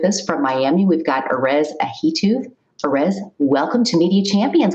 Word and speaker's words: Erez Ahituv: hype digital with us from miami we've got orez ahito perez welcome to media champions glad you could